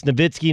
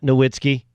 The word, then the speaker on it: Nowitzki: broadcasting all the time it's Nowitzki not Nowitzki writes Nowitzki not Nowitzki that's the proper pronunciation it Adrian Peterson's nickname